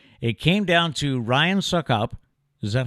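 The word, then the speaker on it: Succop: It came down to Ryan Suckup. Is that how you pronounce his name?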